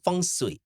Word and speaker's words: Feng Shui: tanya dulu Feng Shui atau Feng Shui? Feng Shui. Feng Shui. Oh kan saya Batak, Shui. Batak Feng. Boleh. Feng Shui. Feng Shui. Feng Shui. Oh sebenarnya gitu. pengucapannya Feng Shui.